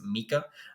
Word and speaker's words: Mika: utah lost uh tafuwa i believe the first name is pronounced mika um even if it's micah tafuwa um dresher he he's